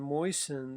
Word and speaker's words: moisten: And the same thing in moisten. The t is not sounded here, but it is in moist.